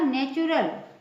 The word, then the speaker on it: natural: NATURAL, इसमें भी TU आया है, इसका प्रोनाउंसिएशन क्या होगा? नेचुरल। CENTURY, सेंचुरी, बीच में इसमें भी TU आया है इस वर्ड में।